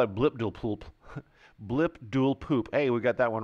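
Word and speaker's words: Blibdoolpoolp: Series right we call it blip duel poop blip duel poop hey we got that one right well it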